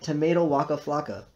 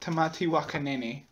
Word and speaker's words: Tamati Waka Nene: today is a renowned tomato Waka Flaka which is part of the tea Mai exhibit in the museum well actually it is pronounced tatti wakan but it does not